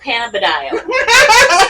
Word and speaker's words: cannabidiol: It's called cannabidiol.